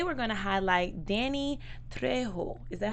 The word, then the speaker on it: Trejo: So today we're going to highlight Danny Trejo. Is that how to pronounce it? Trejo, yeah.